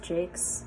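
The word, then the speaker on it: Jacques: moss Flower by Brian Jake yes that is pronounced Jake I don't make the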